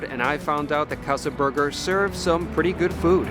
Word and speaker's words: Casa 13urger: got Berger and and I don't know if it was like Casa 13 burger or Kasa the turer and I've heard so many people pronounce it different ways yeah but it's just Casa Burger simple enough Plus what's in